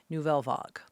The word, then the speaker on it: Nouvelle Vague: But anyway, we are here to talk about Richard Linklater's new film, Nouvelle Vague.